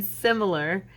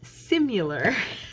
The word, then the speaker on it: similar: And then similar, I always pronounced simular. She's like, Mom, that's not how you say that word. There's no U in it.